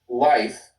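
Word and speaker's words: Leif: I know that L E I F in Germany would be life and L I E F, they go by the last the last vowel.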